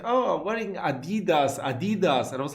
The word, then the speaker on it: Adidas: I'm talking about Adidas, as we say in German, or Adidas, as Americans say.